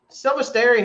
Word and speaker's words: Silvestri: Silvestri, how do you say his name?